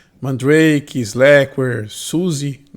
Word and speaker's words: SUSE: é um Drake slackware suse a pronúncia Susa que alemã seja distribuição o kurumin